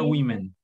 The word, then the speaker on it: women: vez amén women war of women se pronuncia women es decir lo vimos y lo vimos como